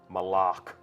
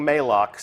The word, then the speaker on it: Malok: absence as left and that is Moloch malok right official pronunciation confirmed so if you hear anybody saying maalox send them right here to the archive of this stream our design leaders told us it's malach we actually have a